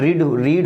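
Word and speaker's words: read: देखिए ये जो होता है रीड होता है, ये रेड पढ़ा जाता है एक्चुअली, लेकिन स्पेलिंग इसकी क्या होती है, सेम होती है।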